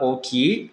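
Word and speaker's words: 大きい: Karena satu kanji, contohnya kanji besar ini, itu dibaca double O. O, gitu doang. Ki dan I-nya itu muncul di luar kanji, kayak gitu ya.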